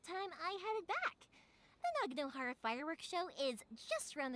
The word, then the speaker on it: Naganohara: They say Naganohara, but it's like... because the way it's... Japanese is round mouth and whatnot, it's supposedly like Naganohara.